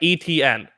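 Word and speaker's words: Etienne: is it uh yeah like the letter like etn etn yeah okay huh all right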